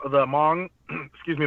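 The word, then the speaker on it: Hmong: um the H the Mong excuse me the pronunciation is mong but there's an H in it so it's Mong so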